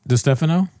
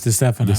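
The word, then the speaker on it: Distefano: Um Dphano. There you go. Oh, it's Dano.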